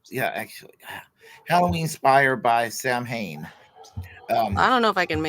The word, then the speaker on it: Samhain: But holiday is rooted in an annual Celtic pagan festival called Samhain, pronounced Samhain.